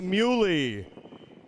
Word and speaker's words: Muley: Thanks for correcting me. It's Stephen Muley.